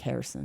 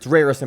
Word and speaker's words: Harrison: It's actually spelled like Rerrison, but every single time I heard anybody say it, it Harrison. sounded like Harrison. It's Rarison, but it's Yeah. Harrison because he's Portuguese.